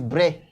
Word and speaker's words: Brest: Sometimes people call it Brest. Please, it's not Brest. The name is Brest. It's a French word, and I think our viewers, you have to take a very look at the pronunciation of the word.